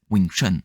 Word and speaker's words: Wing Chun: Tu prononces toujours comme ça de n'importe quelle lignée que tu viens en dessous hipman Wing Chun, c'est comme ça que tu le prononces. Donc Wing, c'est le c'est le 6e ton langue cantonaise cantonaise et c'est le ton le plus bas, hein.